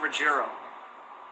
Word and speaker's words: Ruggiero: It's pronounced Ruggiero.